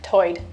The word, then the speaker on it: tide: One interesting feature is that Lumbee English speakers share vowel sounds present in the Outer Banks accent, where tide is pronounced toid.